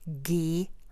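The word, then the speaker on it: Geha: is how it's pronounced, GH. G-E, G, and then the H-A is Ha.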